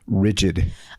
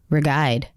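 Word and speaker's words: Ridgid: It's rigid. I thought that was Rigide.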